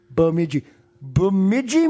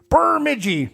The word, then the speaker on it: Bemidji: No, they told them how to say it because my dad was classic, and it doesn't have an R in it. My dad was Bemidji. There's no R in that, Dad.